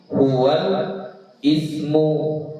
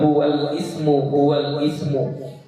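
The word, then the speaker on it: هو الاسم: bi, al maf'ulu bihi huwal ismu gitu. Ya, jadi jangan lagi dibilang huwal ismu, tapi kita bilangnya apa? Huwalis, ya, huwalismu. Gitu. Sama kayak ini juga. Itu cara baca yang baik dan benar, ya.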